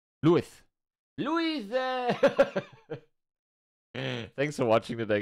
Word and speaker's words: Luis: You have to pronounce it a little more Spanish. Luis. Luis.